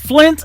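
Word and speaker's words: Flynt: His name is Flint Adams. It is spelled a little bit different. It is F-L-Y-N-T.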